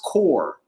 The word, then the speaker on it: Corps: amazon it's called divorce core you know i'm saying divorce but the core is is spelled like course it's c-o-r-p it's kind of like the military corps it's called divorce corps that should be mandatory